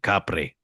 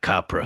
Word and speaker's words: Kapre: So first of all, the pronunciation of the monster is actually Kapre, not Capra.